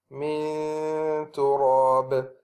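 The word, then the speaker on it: مِنْ تُرَابٍ: So for example, with the ta here, the way we will pronounce this one is miltin, miltin, and the second one is min turab, min turab.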